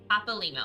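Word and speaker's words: Papalymo: Papal limo.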